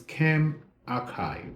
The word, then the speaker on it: ChemRxiv: The second one is Chem Archive. So it's spelled CHEMRXIV, Chem Archive.